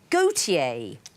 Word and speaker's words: Gotye: walter de becker but walter is gautier in french and he's called himself that but he doesn't spell it correctly he spells it g-o-t-y-e what's a convoluted set